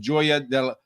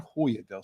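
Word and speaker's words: Joya del Sur: more late speed than Joya Del is that Hoya Del sir probably Hoya I'm gonna go with that the Spanish pronunciation and then finally Hoya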